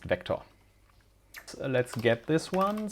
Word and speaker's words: Vec: A continuously growable array written as vect and pronounced vector.